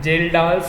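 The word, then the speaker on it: Kjeldahl's: Free ammonia plus organic ammonia को मिक्स कर दें तो इसको हम बोलते हैं जेल्डाल्स ammonia. That is जेल्डाल्स ammonia, KJELDHA। तो जेल्डाल्स अमोनिया बोलते हैं, जिसमें के क्या रहता है मेरा, साइलेंट रहता है।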